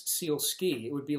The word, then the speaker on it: Sielski: If you ever, S-I-E-L-S-K-I, think of a seal on two skis going down a ski slope. Sielski, that's a simple way to remember it because the pronunciation trips up a lot of people.